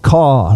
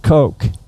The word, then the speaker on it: Koch: So So they pronounced it caw like a crow.